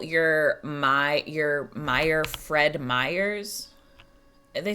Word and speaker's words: Meyer: Pronounced the same as Meyer.